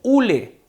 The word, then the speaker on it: hule: Por ejemplo, si digo hielo, si digo hule, no produce ningún sonido la H.